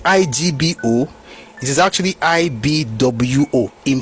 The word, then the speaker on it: Igbo: Igbo is pronounced I-B-W-O. That's the proper way to pronounce Igbo, even in Igbo language. It's not I-B-O. It is definitely not I-G-B-O. It is actually I-B-W-O in pronunciation.